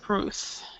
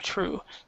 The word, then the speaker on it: truth: with the truth yes truth instead of true truth you have to pronounce the th yes okay all right